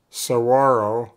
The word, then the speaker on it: Saguaro: to the largest cactus in the world the Saguaro pronounced Saguaro a universal symbol of the American West the